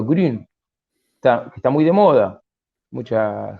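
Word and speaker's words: Grün: a publicar pronto se llama Ángel grum se pronuncia Green está muy de moda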